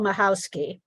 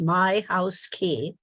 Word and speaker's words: Mahowski: more time I'm mahowski uh my name is pronounced my house key and I um when